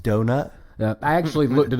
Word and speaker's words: Donat: played Richard an was a guy named Robert donat uh 30 years old pronounced donut yeah I actually looked it up to make